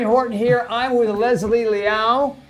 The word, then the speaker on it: Liao: I'm with Leslie Liao. Pronouncing that properly? Correct. Yay. Like hit me. Meow. Hit me. Like meow.